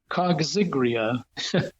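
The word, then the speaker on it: coggygria: species the main species grown is called cotinus kria which is an odd pronunciation but especially it's spelled c o g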